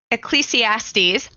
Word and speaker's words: Ecclesiastes: And as we were sharing this episode and having this conversation, I really kept feeling the verse from Ecclesiastes. I did it. I said it right. I always mispronounce it even if I practice ahead of time.